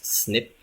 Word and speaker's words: SNP: chromosome qui le porte SNP ça se prononce snip principalement pour les tests